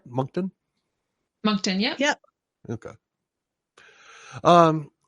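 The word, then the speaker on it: Moncton: as some of the true crime books in monton you said monton yeah okay did I did I pronounce that right monton monton yeah yep okay um he snagged a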